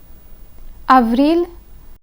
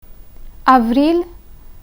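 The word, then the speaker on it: avril: in there is silent of real gentil of real gentil the L in of real is pronounced but the L in gentil is silent I will again repeat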